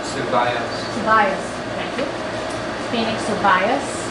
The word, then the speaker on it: Suvayas: It's actually pronounced Suvayas.